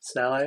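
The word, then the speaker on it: sallet: I believe uh German Saleh uh written salad pronounced Sally I recently discovered French is weird um but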